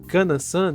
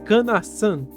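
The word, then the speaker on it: かなさん: mesmo sendo jovem, mas fala que ele havia pronunciado Kanansan de forma errada, sendo certo falar canassan dando um enfoque no san.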